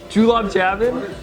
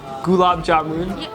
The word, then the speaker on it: gulab jamun: want to try to say cuz I probably mispronounce it julab jabin that's terrible how do you pronounce it Gab gulab jamun yeah pretty got it all right so let's